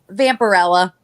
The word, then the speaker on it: Vampirella: How do you say it, Sarah? What's the right way to say it? Vampirella. Yeah, see, that's how everybody else.